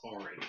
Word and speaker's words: Arya: It's Ari. It's good. I've listened to the audiobook. It's Ari. Arya. Whatever. You pronounce it wrong or your life.